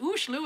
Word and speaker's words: Oslo: Okay, so Oslo, pronounced Oslo in Norwegian, is nowhere near the north.